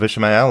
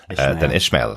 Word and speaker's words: Ishamael: So, her pronunciation of Ishamael, I guess, is the correct pronunciation because that's the guidance she's been given for the audiobook. So, but I love the sound of that. It sounds better than Ishmael, the Ishamael, as she pronounced it.